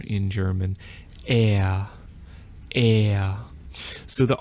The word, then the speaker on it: R: For Hochdeutsch, Standard German, I guess the most common pronunciation of R is a kind of guttural R that comes from the back of your throat.